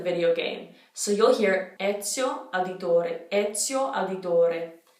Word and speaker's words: Ezio: So that Z, it's like, think of the word pizza. We actually did take in this pronunciation rule when we say pizza, that S sound, Ezio, Ezio. So that rule applies to the name Ezio.